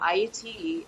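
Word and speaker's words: Ayiti: lot of it was also patient music so iate is the indigenous indigenous original name for haiti it's actually pronounced IAT which means high mountain or land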